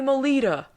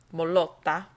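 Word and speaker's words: Mottola: demo tape to Tommy Molita. I feel like I have to say it like that. I mean, you can say Molotta, but I'm pretty sure he went by Tommy Molita, the head of Columbia Records at the time.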